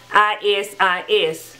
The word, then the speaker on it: Isis: And I'm correcting that pronunciation because I said is, because it's spelled I-S-I-S. But it's pronounced Isis.